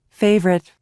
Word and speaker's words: favorite: که کلمه اول favorite نوشته میشه و اما او تلفظ نمیشه، بنابراین این سیلاب ما بدون صدا هست. favorite.